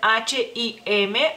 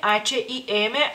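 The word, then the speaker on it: H&M: ni idea realmente pero en México dicen h i m h i m tal y como realmente se pronuncian estas dos letras en español La hh y la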